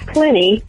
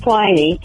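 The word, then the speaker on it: Pliny: just a suggestion for bread work on the pronunciations like Aristophanes not Arista fans plenty not fly knee and coffee not Pompeii the city which was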